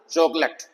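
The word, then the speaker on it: chocolate: लेट नहीं बोलना चॉकलेट तो ओ साइलेंट है।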